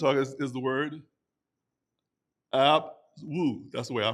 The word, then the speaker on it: Abwoon: The third word we're going to talk is is the word abwoon. That's the way I pronounce it.